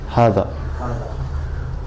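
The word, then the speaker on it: هذا: How would you pronounce this? Haza. Hada.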